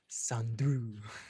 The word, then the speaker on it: Sandru: Sandru. Oh, okay, good enough. Well, it sounds like Andrew, but with an S.